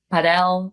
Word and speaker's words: padel: We went to go play paddle. If any of you play paddle or padel, however you say this word, that sport, I love it. Is that how they pronounce it?